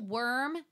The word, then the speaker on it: Wyrm: so the main so the title worm is the name of the main character is spelled Wyrm and he is in